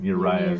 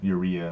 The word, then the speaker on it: Uriah: We were saying Uriah's Yeah. name wrong. We were saying Urea, and it's not. It's It's Uriah.